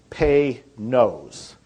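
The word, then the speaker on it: Panoz: pronounce it right it's pay nose panos like p a y and then n o s e p nose is how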